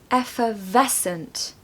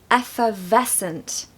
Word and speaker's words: effervescent: off good positive vibes a pronunciation tip for this one is that we need to stress the middle syllable so effer effervescent effervescent I hope you've enjoyed